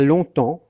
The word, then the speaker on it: longtemps: Donc il était une fois, il y a longtemps, le G on ne le prononce pas, le PS on ne le prononce pas.